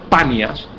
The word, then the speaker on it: Panias: Se llama Banias, en realidad el nombre correcto es Panias, pero los árabes no pueden pronunciar la P.